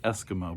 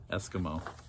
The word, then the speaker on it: Eskimo: esquima esquam escomocs esquimal we'll say eskimo because even though it's spelled weird it rhymes with a long time ago eskimo he described how they